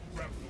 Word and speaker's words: grapnel: Am I pronouncing grapnel correct? Is it grapnel launcher? Take a look at that. It's fucking annoying. No lines of fire. Continue pursuit. Grapnel launcher set. Grapnel. Yeah, it's grapnel.